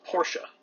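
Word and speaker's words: Portia: This spider's name is Porsche, not like the car. Do you pronounce that Porsche? you if you do.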